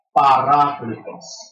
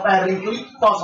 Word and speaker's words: Parakletos: Tulisannya seperti bahasa Latin, ya P-A-R-A-K-L-E-T-O-S gitu. Ya bacanya ya Parakletos, tidak bisa Periklitos atau malah dijadikan Paraklit katanya inilah katanya nubuat tentang Nabi Muhammad. Parakletos itu adalah yang asli, bukan Periklitos, sebab ada kata-kata penolong